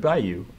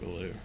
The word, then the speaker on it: Ballou: That's, isn't it Kurt Ballou? I don't know how to say his name. You're the Converge fan, so I'm counting on you. I'm pretty sure it's Kurt Ballou.